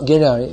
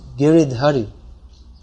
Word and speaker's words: Giridhari: mean someone might explain actually it's not ghirari it's giridhari so that's explained to